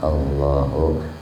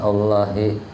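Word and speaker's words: اللهُ: Allah Allah Allah allahinya dibarisi bacanya Allahu jangan Allahi Allahu Allahu Allahu jadi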